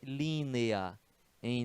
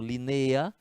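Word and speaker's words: línea: precisa de assento Rio e aqui a gente tem linea.em Linea né e não lineia a gente tem uma vogal forte que é o e e uma vogal fraca que é o ar então é um hiato vai ser linear a né assim três sílabas é que está a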